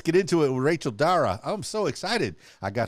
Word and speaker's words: Dara: a pleasure Rachel Dara hopefully I said that correctly did I pronounce that you did you pronounced it you're actually one of the first people who have pronounced my name perfectly on the first try on the first interview